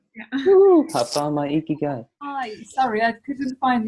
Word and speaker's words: Ikigai: Ikigai, pronounced correctly.